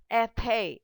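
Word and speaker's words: été: Now seventh, it's an acute. It's pronounced like a. Ethe, ethe. That is summer.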